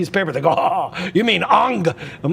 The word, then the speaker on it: Ingres: I want to go look at the painting by Ingress." And they're like, I decided to write it down on a piece of paper. They go, "You mean Ang."